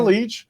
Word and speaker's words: Lich: occurred to me and pronouncing your last name shouldn't be that complicated but it it gets some people it's leech yes so just see we